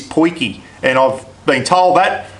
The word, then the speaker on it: potjie: pronounce that word that the proper pronunciation of it is poiki and I've been told